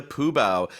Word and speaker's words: Fu Bao: but when I teach students, always I tell them the F sound instead of the P sound, right?